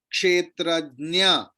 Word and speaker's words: क्षेत्रज्ञ: लेकिन वो जो है हाफ ज आधा ज और पूरा इया तो इया एंड न सी the both are nasal letter so it sounds like same clear so actual pronunciation is sarvajna kshetrajna clear so ja and